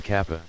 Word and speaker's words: kappa: I may look like a human like you, but I'm actually what you guys call a kappa. Don't you mean kappa? That's the Japanese pronunciation. Kappa.